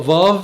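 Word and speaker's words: ו: نلاحظ ان الحرف ده اللي هو فاف له حالات بينطق فيها واو، يعني هو أصل واو، لكن هو حاليا المعتاد أو في غالب الكلمات بينطق في. فاف. فاف.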